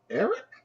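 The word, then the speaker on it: Arik: um womanizer apparently Eric oh no it was Eric not Alex but it's spelled we right a r i k yeah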